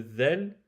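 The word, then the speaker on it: ذال: Le zel, c'est l'extrémité de la langue en contact avec l'extrémité des incisives supérieures, les deux dents de devant. On sort la pointe de la langue, on la met en contact avec les incisives supérieures et ça donne zel, zel.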